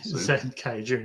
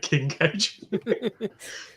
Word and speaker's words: Zenkaiger: So, Zen Kaiger, not King Kaiger.